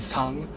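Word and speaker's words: 쌍: It's pronounced as sang, and it means double.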